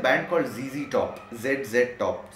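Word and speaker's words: ZZ Top: Billy Gibbons, there is a band called जीजी टॉप, जेड जेड टॉप. सो we pronounce American system में जी एज जेड.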